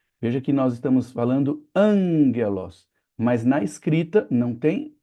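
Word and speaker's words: ἄγγελος: Então, o primeiro gama de dois seguidos vai se tornar um gama nasal. Ele vai acabar sendo pronunciado com som de n ou com som de ni na língua grega.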